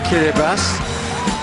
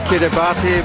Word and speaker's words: Kiribati: tackle them this is kiribati looks like kiribati but a tea followed by an eye is pronounced as an s in this country 33 islands in the